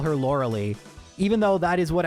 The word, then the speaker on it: Lorelei: Like seriously, when I was first corrected, I was like shocked. Like I had never even considered it was Lorelei.